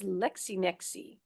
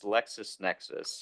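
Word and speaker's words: LexisNexis: What is Lexi Nexi? Did I pronounce that right? Wait, we're spending $16,000 on. So, uh I believe that's Lexus Nexus. Oh, Lexus Nexus.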